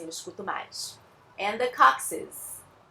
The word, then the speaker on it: coccyx: Esse bando de consoante aí se pronuncia coccyx. Então, o primeiro C dos dois Cs juntinhos, né, a gente pronuncia com som de C, o segundo com som de S e o X com som de Z.